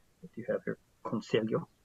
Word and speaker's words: conselho: Conselho, if I'm pronouncing it correctly. Conselho, yes, you are.